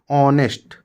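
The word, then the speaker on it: honest: प्रकार एक वर्ड है ऑनेस्ट एच ओ एन E eighty नेस्ट इसको नेस्ट नहीं नेस्ट एच साइलेंट रहता है तो ऑनेस्ट तो यहां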